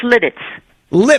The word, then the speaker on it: Lititz: this can't Lititz Pennsylvania how you pronounce where you are it's lit its lit it's good good what's